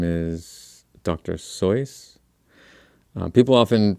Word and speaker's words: Seuss: mispronounce his name um his name is dr soyuz uh people often pronounce it dr seuss um yeah dr seuss or dr zoice is the correct pronunciation one way to remember